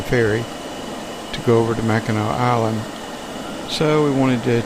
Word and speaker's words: Mackinac: But it was settled by the French, and AC was pronounced Mackinac. Now, when the British came along and established the city of Mackinac City, they spelled everything with an AW. It's still pronounced Mackinac.